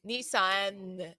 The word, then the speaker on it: Nissan: i love saying nissan how do you pronounce lisa nissan nissan okay so i need to pronounce that and and not do it the french way we also have u.s